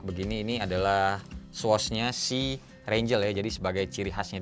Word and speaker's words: Raingel: Brandnya itu, kalau nggak salah, dibacanya adalah Rangel. Tulisannya sih Rangel.